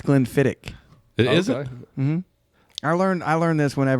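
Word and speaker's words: Glenfiddich: it's glenn levitt and it's not glenn fittich it's glenn fittick it is i learned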